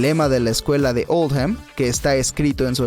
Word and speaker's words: Oldham: Esta elección se hizo para reflejar la pronunciación de Oldham en el acento local, que es Oldham.